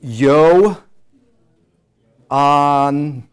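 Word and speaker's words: Ἰωάννου: Okay, so this Yoda at the beginning, you learned that it's pronounced I, right? I or E. If it comes at the beginning of the word, you're going to say ya. Yeah. So yo anu.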